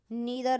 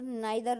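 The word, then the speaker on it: neither: कुछ लोग हैं जो इनका प्रोनाउंसिएशन आइदर और, नाइदर नोर, और इसे इसे तो वीदर और ही पढ़ते हैं। ये आइदर और नाइदर नोर बोलते हैं, दोनों सही है, बट जब हम फनेटिक्स बनाते हैं तब इसका जो राइट प्रोनाउंसिएशन होता है वो ईदर और नीदर नोर होता है।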